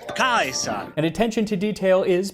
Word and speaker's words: Caesar: 1 Century BC Rome which would be with a hard C so instead of Caesar he pronounces it AUST Kaiser and attention to detail